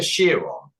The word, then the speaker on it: Chiron: A Chiron, as it's pronounced.